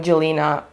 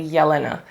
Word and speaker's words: Jelena: would immediately say I'm Gelina because of Justin and Selena ship name. But this is not how my name is pronounced. It's actually Yelina.